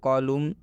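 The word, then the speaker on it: column: में बता दें कि यदि एम के बाद एन आता है तो यह एन साइलेंट हो जाता है, मतलब इस एन का उच्चारण नहीं करना है, नहीं पढ़ना है, हम एम तक ही सीमित रहेंगे। जैसे में कॉलम, हिम, ऑटम इत्यादि।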